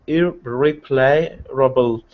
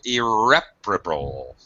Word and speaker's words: irreparable: Also, irreparable. Second syllable stress, irreparable.